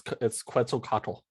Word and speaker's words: Quetzalcoatl: I can possibly pronounce the god of civilization order. I don't know what that means. It's Quetzalcoatl.